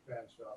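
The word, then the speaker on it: Featherstonhaugh: nuttall and george fanshawe i know it looks like it should be featherston hall but the man apparently pronounced his name fanshawe so i'm not going to argue with that and so part of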